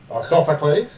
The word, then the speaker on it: Sophocles: references to the children of Sophices as this Sophocies. Sophocles. Yeah, me and pronunciations, not great.